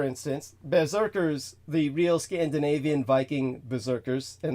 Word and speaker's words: Viking: Berserkers the real Scandinavian Viking Berserkers and the real pronunciation is more like vicking uh but the vicking